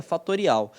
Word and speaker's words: factorial: que é o factorial nessa escreve factorial mas se pronuncia fatorial ele vai pegar o